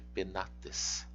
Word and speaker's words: penates: Onde está o acento de penates? Está no A. Porque a vogal longa está aqui.